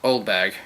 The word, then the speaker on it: Oldbag: It's pronounced Oldbag, Your Honor.